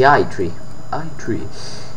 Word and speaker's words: E3: mezza, sempre alle 3, E3, non so come, vabbè sì, si pronuncia all'inglese, quindi E3, anzi I3, ci sarà lo speciale